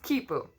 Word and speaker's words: quipu: on these strings and those strings were called quipu actually I think it's pronounced quipu and that's also how